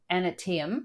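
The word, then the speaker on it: Aneityum: of the ship I don't know how to pronounce this a n e i t y u m so antim Island they come across um to Mystery Island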